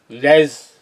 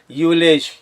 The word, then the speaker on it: ULEZ: He's saying, ULEZ, ULEZ. He can't even pronounce what ULEZ. Z is there. Ultra low emission zone. Z. Zebra Z. Zero Z. Zinc Z. And it is ULEZ.